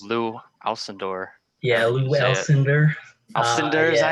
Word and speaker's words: Alcindor: Alcindor, is that how you say it?